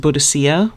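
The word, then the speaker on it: Boudica: an ancient British tribe buddika you may have heard her name pronounced budhia which was apparently a favored pronunciation by the victorians when her husband died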